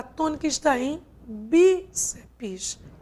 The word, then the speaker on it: bíceps: Já quando a gente trabalha com revólver, como está aqui, e com bíceps, a sílaba tônica quem é? Não é a última, e sim a penúltima.